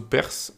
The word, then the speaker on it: parse: Alors, parse, ça veut dire parse ou perse, parse, je dirais quand même. Donc, bref, on va le prononcer à la française, parse.